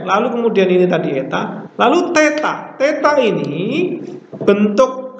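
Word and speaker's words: ἦτα: Beda dengan ini juga tapi dibaca eta. Bukan heta, tapi Contoh merah, bukan merah, tapi merah.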